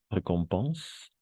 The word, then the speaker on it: récompense: Ah, avant de continuer, quelques petites remarques niveau prononciation, récompense, pas récompenser, récompense, et dessins animés, mhm,